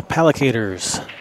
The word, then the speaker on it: Palac8ers: All right, that's gonna bring the Pallicators to the table. I like that name, Pallicators. We were told it's pronounced pallicators like alligators.